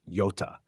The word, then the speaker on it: jota: Because in Spanish, the letter J is pronounced Jota, and the letter P is pronounced pe.